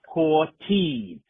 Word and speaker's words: Hortiz: Think of the lady of the night who is a tease. Say it with me, Jake. Poor te.